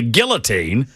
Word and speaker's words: guillotine: The 35 was arrested with a guillotine, a device historically used for executions. This device, which is commonly pronounced with both L's, was seized from the back of his truck.